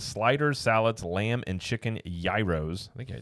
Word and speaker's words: gyro: I think I said, is it gyros? No. How do you say it? It's gyro. Gyros, whatever. I say gyros because I'm from the Midwest. It is definitely a gyro.